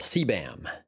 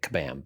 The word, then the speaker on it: CBAM: CBAM is actually how it's pronounced. That's how I pronounce it. There might be some people pronouncing it KBAM, but it's a framework called the concerns-based adoption model.